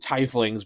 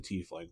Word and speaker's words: tiefling: flings and I know a lot of people pronounce it Ty flings but the official pronunciation is a tling for this when we played up as far